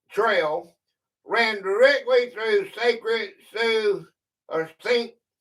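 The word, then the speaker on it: Sioux: It's pronounced sue.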